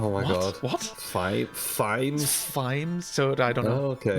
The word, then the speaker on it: Vimes: time for me it's Vimes. Vimes, yeah. Which I now have a problem saying Vimes out loud because my wife keeps telling me that I can't pronounce V's. I pronounce them as F's, so I kind of go.